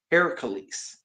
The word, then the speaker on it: Heracles: But in Greek in Greece it's actually pronounced Heracles.